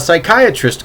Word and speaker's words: psychiatrist: It was, why can't you hear a psychiatrist going to the bathroom? Same joke I've heard before. Yeah, because the P is silent.